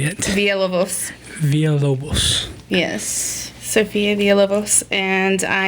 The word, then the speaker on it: Villalobos: Villalobos.